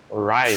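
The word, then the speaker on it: Wriothesley: I mentioned that I have had personal dealings with the administrator of the fortress, Writhsley. He's a very Writhsley. shrewd fellow. That's how it's pronounced. Yeah, Writhsley.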